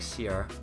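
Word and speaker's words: Seele: Sele. That's like the Japanese pronunciation or like Sierra. Sierra is the Chinese pronunciation.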